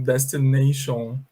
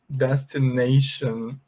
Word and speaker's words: destination: E alguns alunos falam assim, destination, imitation, tendendo a pronunciar um som de O fechado, O, mas a verdade não é. A pronúncia é assim, olha, destination, and here we say imitation, tá bom?